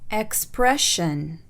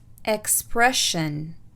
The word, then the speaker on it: expression: السلسلة SION تلفظ شن إذا سبقت بحرف ساكن، والحروف الساكنة اللي برضو شرحناها في البداية. Expression. Expression.